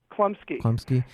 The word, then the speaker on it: Chlumsky: Chlumsky and Macaulay Culkin.